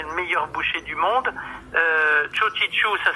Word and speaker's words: Txogitxu: Chodichu, ça s'écrit TXOGI. C'est bien ça, Imanol? Je ne vais pas dire pour l'instant. Oui. Et après, TXU. TX. C'était XOGITXU. Absolument. Chodichu, vous tapez Imanol Jacka, vous trouverez tout, vous